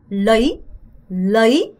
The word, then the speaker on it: lấy: 여러분 이거 러이 아니고요. 어가 짧고 y에 강세가 들어가서 lấy 라고 발음하셔야 돼요.